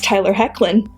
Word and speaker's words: Tyler Hoechlin: It's Tyler Hoechlin.